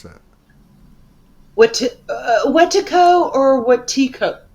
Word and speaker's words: Wetikó: Is it Wotifka or how do you pronounce that? Wetikó or Watiko? Wotiko.